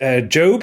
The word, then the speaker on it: Gob: Will Arnett plays Job, who I called Gob last week because it's spelled G-O-B.